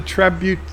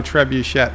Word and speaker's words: trebuchet: Lundell's Groovy Movie says do some research on how the trebuchet. Alexa, how do you pronounce trebuchet?